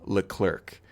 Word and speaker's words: Leclercq: go to our website it's her name is it's spelled a little bit confusing so please listen close it's michelle Leclerc michelle its mich e ll e last name is le c l ER c q michelle Leclerc you can just google her